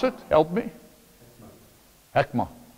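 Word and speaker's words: חכמה: How would you pronounce it? Help me. Hekma. Hekma.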